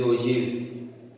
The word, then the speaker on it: ogive: CF curve or an ogive curve. The term ogive is pronounced as ogive, O-J-E-E-V, and is derived from the word ogive, O-G-E-E.